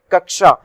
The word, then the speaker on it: कक्षा: श लगता है ना, तो हम इसको कैसे प्रोनाउंस करते हैं? कक्षा। तो कक्षा में देखिए ये कैसे बना है? का से बना है, और ये वाला शा, यानी इसको मैं अपनी